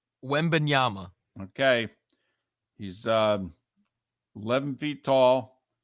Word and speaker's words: Wembanyama: So is it Wembanyama with an M? So not an N at the end. It's an M. Right. Correct. Wembanyama.